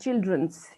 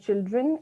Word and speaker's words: children: two different words and children's you said a couple of times so children itself is a plural so you want to say children and that is more